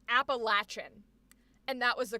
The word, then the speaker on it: Appalachian: Because in where I grew up, we were told it was pronounced Appalachian.